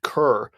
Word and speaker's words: cour: basically the end of this first Cur, which apparently I think is how it's pronounced. I kept thinking it was Cor, but apparently Cour is Cur.